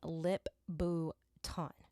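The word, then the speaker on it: Lip-Bu Tan: So I think, yeah, you pronounce his name Lip Bhutan.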